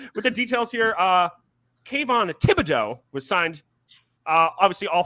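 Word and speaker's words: Thibodeaux: We got Thibodeau, Neal, Beavers, Davidson, McFadden, and McKeithen all signed.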